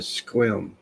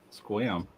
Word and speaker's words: Sequim: I always said Squim. Huh? Squam. By the way, it's spelled Squim.